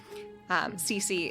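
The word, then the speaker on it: Cisi: Cece is spelled C-I-S-I.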